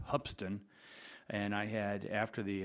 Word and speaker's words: Hoopeston: school called it pronounced it's spelled Hoopeston but it's really pronounced hubsan and I had after